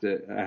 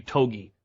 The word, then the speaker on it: Togi: go any further this is where I have to I have to say I had issues with the commentary about the pronunciation what what is his opponent's last name